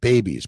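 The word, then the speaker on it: BEBBIS: way the baby's way it's pronounced babies but it's spelled b-e-b-b-i-s babies bacon eggs butter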